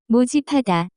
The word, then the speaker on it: 모집하다: The pronunciation of this word is closer to. 모집하다.